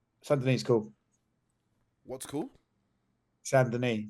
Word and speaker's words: Saint-Denis: Saint-Denis. That's how you actually say his name, not the way you said it.